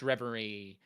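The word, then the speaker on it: Reverie: Uh, D Rey, uh, confirming it's pronounced Revery.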